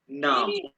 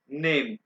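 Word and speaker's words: Name: Introduction में सबसे पहले हम पढ़ेंगे नाम, नेम। ये जर्मन में इसको नेम नहीं प्रोनाउंस करना, नामे।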